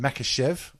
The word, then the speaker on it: Makhachev: It's Islam Makhachev. I'm going to go with it. That's how that name's pronounced.